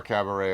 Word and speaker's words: cabaret: Oh, it's something to do with our cabaret of the musical number type stuff.